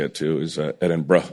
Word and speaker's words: Edinburgh: say it too is Edinburgh, like how Edinburgh, how Edinburgh. assholes in America yo, what's up, bro? Yeah, that's how you Edinburgh. say it here. Or assholes in America call it Edinburgh.